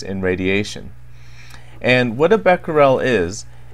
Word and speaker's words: Becquerel: Now, before this crisis began, I don't think many people in Japan had ever heard the term Becquerel, or Becquerel as it's pronounced by the Japanese.